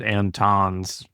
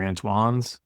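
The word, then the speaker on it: Antone's: a dumb Tex and I pronounced it antons but I guess it's an tones or antoan I think it's antoan does anybody know I don't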